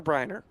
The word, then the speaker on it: Briner: And, I've said it wrong before in announcing, is it Brenner or Briner? It's Briner.